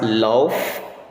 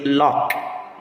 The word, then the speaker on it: lough: for that word is lock. Lock. The gh there will reflect the consonant sound represented by letter K.